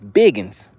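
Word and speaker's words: big'uns: some of those bigin that's how we pronounce it down south Biggins that's where some of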